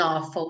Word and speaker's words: awful: It died with an awful sound. Died with an awful sound. Então, esse awful se escreve com AW, mas tem um som de um O com acento agudo.